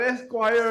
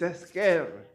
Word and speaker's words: Esquer: It's not Esquire, it's not Square, it's Esquer, right?